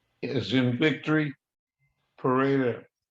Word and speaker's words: Pereda: My parents are the male Antonio, V is in Victory, Pereda, Pereda. It's actually pronounced Perela.